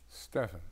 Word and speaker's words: Stephan: is from is it Steven or Stephan honey I never know how to pronounce this with a pH Stephan Stephan because it's German right yeah he's German he